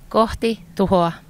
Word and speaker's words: Kohti Tuhoa: How do you pronounce the band name? KOHTI TUHOA. Not too bad. I've said KOHTI TUHOA.